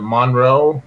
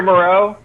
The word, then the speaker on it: Moreau: Is it Monroe or I can't just Foster Moreau. Moreau, yeah, him. Yeah.